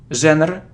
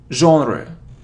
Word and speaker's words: genre: sound our it's half it isn't Jenner or genre its genre genre genre genre so yeah